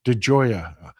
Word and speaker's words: DeJoya: My last name is Italian, so it is pronounced DeJoya.